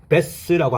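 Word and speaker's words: bass: 음악에서 가장 낮은 영역 의미가 되어서 명사로 최저음 베이스 남자 목소리의 베이스 베이스 가수 형용사로 저음의 베이스인 두 번째 어원 발음을 배스라고 합니다.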